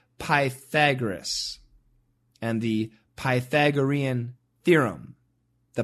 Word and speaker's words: Pythagoras: We say Pythagoras and the Pythagorean theorem.